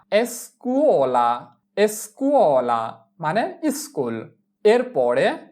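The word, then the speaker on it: scuola: এরপরে এস্কুয়ালা এস্কুয়ালা এস্কুয়ালা এস এর উচ্চারণ এস চি উ কু ও কুও এল আ লা এস্কুওলা এস্কুওলা মানে স্কুল।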